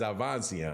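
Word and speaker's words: Avanesyan: uh Advanced avancian man I'm glad I got the D out of that pronunciation because it's avancian I don't know why I always put a D in there but whatever uh so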